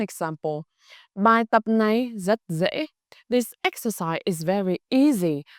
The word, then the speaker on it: dễ: Or the second example, bài tập này rất dễ. This exercise is very easy. The word dễ, easy, is pronounced dễ.